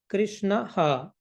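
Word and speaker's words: कृष्णः: be replicated with her what is the last sound for Krishna a Krishna a now that a will be replicated with ha Krishna ha krishn right what is the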